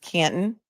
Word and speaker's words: Canton: Canton, you don't pronounce the T. It's just Canton.